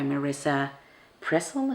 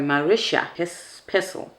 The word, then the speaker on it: Marisha Pessl: And then the next word was leave, and I chose the book Neverworld Wake by Marisha Pessl. Is that how you say her name? Oh, sorry, Marisha Pessl.